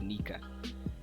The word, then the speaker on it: Nika: the SFX or the sound for it is pronounced as Nika.